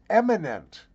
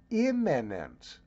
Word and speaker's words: imminent: the storm is eminent the storm is famous and highly regarded in his field of expertise because that's what you just said the word you were looking for Mr overpaid ignorant illiterate announcer is imminent I I hate it